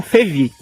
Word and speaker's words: Fevi: mas todo mundo me conhece como fevi né que é a junção ali das duas sílabas uh coisa boa mais